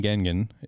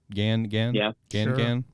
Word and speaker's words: Gangan: a new series in shonen gengan is how you pronounce it gengan gangan okay thank you uh it'll